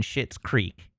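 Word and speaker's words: Schitt's Creek: Chip Cat, you don't have to bleep out shit in Shit's Creek. It's not spelled like a curse word. It's SCHITTS. It's said like it.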